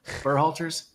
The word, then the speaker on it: Berhalter: Look at Berhalter. Do you see what I mean about the shape of his neck? Berhalter's.